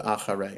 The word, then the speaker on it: אחרי: So I just want to point out, if you pay attention, you hear the letter chet is pronounced a little bit different. So acharei, I pronounce it acharei.